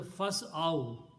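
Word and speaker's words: فاسعوا: So, but the full word will be pronounced as a fas'aw.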